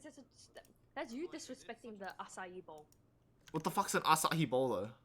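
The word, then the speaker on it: açaí: you pronounce it like asaki it's not asahi it's acai okay acaciable acacia i'm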